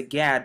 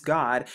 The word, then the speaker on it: Gad: now they pronounce the gad but it's actually pronounced as g-a-w-d or what's commonly known as god and as you can